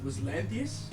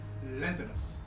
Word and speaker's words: Lanthanus: It was Lanthius, you said? Lanthanus.